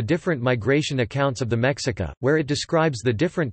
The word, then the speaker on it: Mexica: referred to themselves as Mexica, Nahuatl pronunciation, Mi-Ica, a tribal designation that